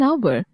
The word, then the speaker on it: hour: an honest man an hour we use n in the above examples because the consonant h is silent and the words begin with the vowel sounds now read these examples